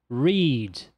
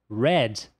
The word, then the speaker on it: read: Essa palavra, se nós pronunciarmos read, trata-se do verbo ler. Agora, se ela for pronunciada read, read, trata-se do passado desse mesmo verbo.